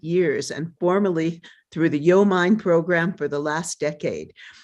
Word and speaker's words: YoMind: There's several interpretations, but it's like Yo Mind.